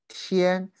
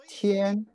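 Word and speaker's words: 天: Chinese characters it's a very important character we pronounce the Tien Tien is a sky from this character we can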